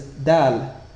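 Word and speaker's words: دال: The first letter to be discussed is Dal. This consonant letter is pronounced very crisply, and similar to a frontal D in English.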